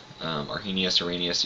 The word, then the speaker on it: Arrhenius: Sometimes it's pronounced Arrhenius, Arrhenius, either way.